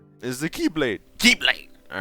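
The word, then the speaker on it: χ-blade: not a keyblade the ex blade it still sounds like you're saying keyblade no it's like the Greek letter X it's pronounced the same makes more sense when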